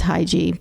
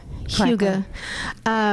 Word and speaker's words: hygge: Which is Hygge, but we're international. We say it. Hygge.